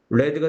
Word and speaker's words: read: p 아니라 해플 PPS has has read이 과거분사는 발음이 어떻게 되죠 레가 되죠 그 책을 읽어봤다 the book BF 과거부터